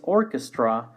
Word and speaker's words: orchestra: similar in spanish surely the first one is Orchestra Orchestra make sure that we make a sound